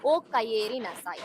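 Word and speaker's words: おかえりなさい: இ ஈன்னு நம்ம ப்ரொனவுன்ஸ் பண்ண மாட்டோம். ஏ.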